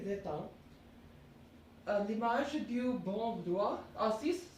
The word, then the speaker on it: retiennent: Dès le Moyen Âge, from the Middle Age, les petits Français retiennent l'image, not, okay, the pronunciation will be slightly different, it would be retin.